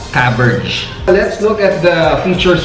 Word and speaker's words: Caberg: I'm always emphasizing the pronunciation kasi we've been hearing Caberg, Caberg, or Caberge. Pero based on research daw, it's actually Caberge.